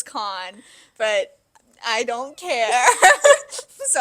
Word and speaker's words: Kahan: Oh my God, Kahan, and I will continue to pronounce it as Kahan. I know it's Khan, but I don't care.